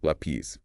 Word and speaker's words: lápiz: Ends in ziz, rule 2 says stress p's, but we stress la, so lápiz.